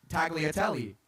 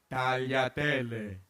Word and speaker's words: tagliatelle: Nobody wants to hear tagliatelle. But if you can say it right, tagliatelle, then you will impress a lot of people.